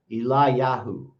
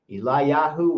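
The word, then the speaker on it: Eliyahu: trouble saying this one it's spelled e l i eli y a h u eli yahoo eli yahoo weinstein eli yahoo weinstein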